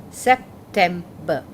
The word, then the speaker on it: September: He is unaware of the fact that he has to pronounce it as September.